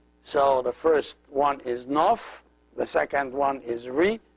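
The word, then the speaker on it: ⲛⲟϥ: Oh fie the N Oh F and they're pronounced nuff nuff the second syllable is re and consists of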